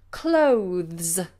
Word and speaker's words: clothes: having a posh accent clothes clothes stuff because you have that movement of the tongue from the th mm to the S or Z sound the clothes okay I'm